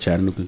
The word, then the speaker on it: Chattanooga: Am I saying it right, Chattanooga?